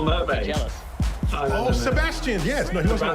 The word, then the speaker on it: Sebastian: In the UK, we give it 4 syllables, Sebastian. But over there, I think you only give it 3, right? It's Sebastian. Sebastian, I will just go with Seb.